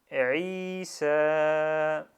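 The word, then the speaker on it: عيسى: Et là, la première syllabe, on a dit c'est i. Deuxième syllabe, sa, comme celui-ci, c'est la même chose. Et je colle les deux. Et on dit Isa.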